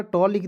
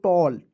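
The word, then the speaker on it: tall: टी A double L टी का ट लिख दीजिएगा ए डबल एल का उच्चारण दोस्तों ऑल के रूप में उच्चारण करते हैं हो जाएगा दोस्तों टॉल टी A double L टॉल ठीक है जैसे एम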